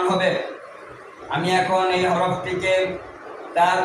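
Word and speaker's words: ت: এই হরফটির নামের শুদ্ধ উচ্চারণ করতে হলে জিহ্বার আগা সামনের উপরের দুই দাঁতের গোড়ার সঙ্গে লেগে পাতলা আওয়াজে উচ্চারণ হবে।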